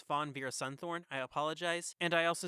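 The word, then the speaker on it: Fawn Veerasunthorn: couple of things one her name is pronounced as Fawn ver sunthorn I apologize and I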